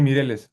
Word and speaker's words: Mireles: Sí, Mireles, así, como, como suena así, literal, Mireles, así es el apellido.